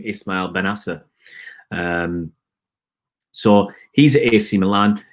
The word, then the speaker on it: Ismail Bennacer: He actually sent me a recording of how to say his name, Ismail Bennacer.